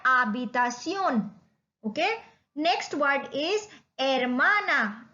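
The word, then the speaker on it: habitación: We write H बट we don't pronounce it. Like here again please divide this word uh बी ता सियोन, आबितासियोन।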